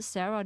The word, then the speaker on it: Sarah: So Sarah is pronounced different in German. It's called Sara.